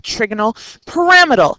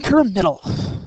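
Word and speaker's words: trigonal pyramidal: specific molecular geometry of trigonal paramal and that's how it's pronounced by the way trigonal paramal you want to lay on that second syllable bring all your Western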